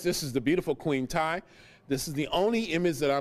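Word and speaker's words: Tiye: This is Queen Tai, or T.A. Some people pronounce it Queen T, T-I-Y-E.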